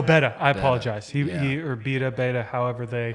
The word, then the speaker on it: Beta: Benny Bloss signed with Ducati or Betta? No, Betta. I apologize. He or Beta, however they. How do you say that? Fucking, it's Betta. I think it's Beta. No, one T. It's one T.